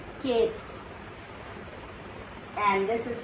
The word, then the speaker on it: quatre: This is 4, but in French we say quatre. Quatre. E is silent, and the last R is giving Kha sound, quatre.